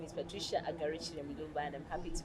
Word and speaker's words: Agarukire: pronounced it Agarukire. Yes, Okay. yes, you have, and I'm not surprised. Okay. My name is Patricia Agarukire Mulumba, and I'm happy to be back here on Family TV.